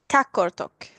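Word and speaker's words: Qaqortoq: So if I would say that city name with a Swedish pronunciation, or how I would say it in Swedish, Kakortok.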